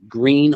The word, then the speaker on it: Gruene: If somebody wants to really learn a little bit about history and old country music, look up Green Hall, and it's spelled Gruene, Green Hall.